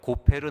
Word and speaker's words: 고페르: 따라서 여러 영어 성경과 개역 개정판 성경에서는 히브리어 성경의 발음을 그대로 차용하여 고페르 나무라고 번역하였습니다.